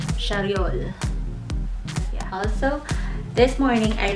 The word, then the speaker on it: Charriol: I keep on pronouncing it as Charriol, whereas it is pronounced as Charriol.